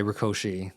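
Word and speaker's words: Rákosi: And this is important because after a decade of rule by uh by Rkoshi that's actually how his name is pronounced even by the standards of the which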